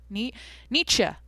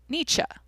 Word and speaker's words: Nietzsche: It's literally like Neechuh. Niche. Nietzsche. Okay.